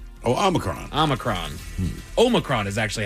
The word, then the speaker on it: Omicron: Anybody remember that that variant of COVID-19 that everybody had such a hard time pronouncing? Futurama fans might know an alien from this planet, Omicron. Oh, Omicron.